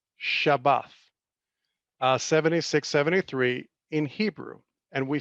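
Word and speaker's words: שבת: Okay, so the root word of the word Shabbat is pronounced Shabbath, 7673 in Hebrew, and we see it mentioned in Genesis 2:2.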